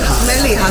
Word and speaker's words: Mellieħa: Is it Mellieha? Mellieha.